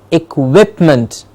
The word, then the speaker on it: equipment: I kick w IP it sounds like equip work equipment and the quip gets this clear stress to say equipment equipment equipment yes a